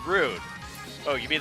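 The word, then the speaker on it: Roon: So this particular kid, his name is Rune.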